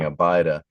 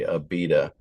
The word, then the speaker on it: Abida: Okay, so I was saying it wrong. I was saying Abida, but it was really Abida.